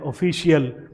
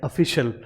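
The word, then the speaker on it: official: Generally हम जैसे ये पहला वर्ड ही देख लें तो हम बोल देते हैं ऑफिशियल, तो ऑफिशियल जो है वो गलत है, इसका प्रोनाउंसिएशन जो है वो कैसे होता है, वो होता है ऑफिशियल।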